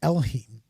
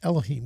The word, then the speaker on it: Elohim: is in there that is hebrew is is elohim which is and I hope I'm saying it right is it elohim is that right yeah and it's a